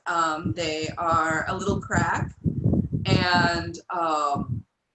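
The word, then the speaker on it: craic: they are a little crack and um and crack is spelled c-r-a-i-c for those of you yes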